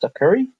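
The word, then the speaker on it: Sucuri: I installed as well it's pronounced sucker security audit and mailware scan heard and I installed both of them and it was working fine.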